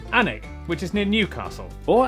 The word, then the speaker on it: Alnwick: stop in Quernmore, Quorma, before finishing up in Alnwick. Alnwick, which is near Newcastle.